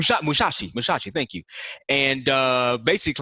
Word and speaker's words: Musashi: like especially worried about summers uh how you pronounce his name issue which Mousasi shot Musashi Musashi thank you and basics like yeah you